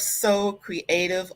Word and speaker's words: Sew Creative: We've got next the co-owner of So Creative Lounge. Her name is Cicely Habimana. Sew is spelled S-E-W.